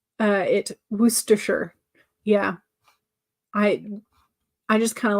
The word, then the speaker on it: Worcestershire: So yeah, maybe Worcestershire is more of how you say it. Yeah, but I know it's supposed to be like Shire, like in England, but they don't always pronounce it Shire.